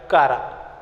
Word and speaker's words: Chara: Now the general examples which comes under chlorophyce, these are Chlamydomonas, Volvox, Eulothrix, Spirogyra, Chara. Okay, Chara, C-H-A-R-A, need not to say Chara. Okay, pronunciation should be a fine one.